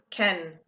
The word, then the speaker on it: can: Remember that Ken has an interesting pronunciation. Okay. I can ski. Okay. I can. Ken. Not can. Ken.